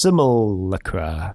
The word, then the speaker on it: Simulacra: simulacra and simulation yeah how do you even pronounce simulink i don't know i don't know how to pronounce it because there's no pronunciation guide in books unless you look simulacra there we go that's how you pronounce it it's a miller crap